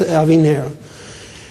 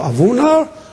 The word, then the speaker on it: Aviner: It's not polite if somebody presents you, listen, my name is Aviner. And he says, Aviner or Avunar? You say, oh gosh, this guy, no, my name is Aviner.